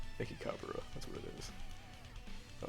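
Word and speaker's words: Mechikabura: Mekibura. Mekikabura, that's what it is.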